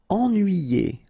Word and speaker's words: ennuyé: Ennuyé. Okay, so first en, then nuit, then yé. Ennuyé.